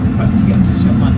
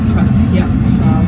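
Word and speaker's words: प्रत्यक्ष: So I was saying Pratyakshaman or something, and that's wrong.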